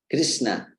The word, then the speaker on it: Krishna: Krishna, Krishna, Krishna with Krishna with the middle sha being sha, not sha. There are differences in Sanskrit pronunciation.